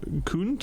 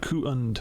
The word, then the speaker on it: Kund: believe, It Hannah is- Yes, it is Hannah Kund, like Kund, Kund. Yeah, they made it very clear Kund. how it's pronounced. rather than like pound, cound, Count. or hound. Kund.